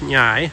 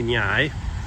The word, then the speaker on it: Ngai: She said it is properly pronounced Ngai, kind of like Nyai. But she said foreigners and southern Thailand people can't say Ngai, so they call it Koh Hai.